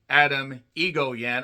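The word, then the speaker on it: Atom Egoyan: Adam Egoyan. I know how his name is pronounced. Just let me work with this. Adam E. It just sounds like Titan AE.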